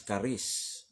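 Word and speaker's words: χάρις: din um Okay so Grace from the Greek word charis okay ang pronounce is kis Okay So um pleasure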